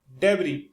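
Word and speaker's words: debris: फंसा हुआ डेवरी दोस्तों यहां पे जो एस है वो साइलेंट रहेगा इसे बोलेंगे डेवरी डेवरी इसका मतलब होता है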